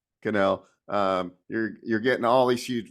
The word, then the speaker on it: Cannell: I can never say his name right. Canal, yeah. Cannell.